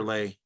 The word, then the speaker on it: Lei: Is that Lee or Lay? Lei is the correct pronunciation, but Lee, Lei. I've been going by Lee.